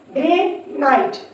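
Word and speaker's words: granite: टी ई आई आई जब आई के बाद एक कसोनेंट हो और लास्ट पे मैजिक ई हो तो आई जो है वो अपना लॉन्ग वोवेल साउंड प्रोड्यूस करेगा आइट आइट ग्रेनाइट ग्रेनाइट ग्रेनाइट आर ओ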